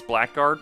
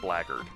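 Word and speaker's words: blackguard: Yeah, it's black guard, but it's pronounced blard.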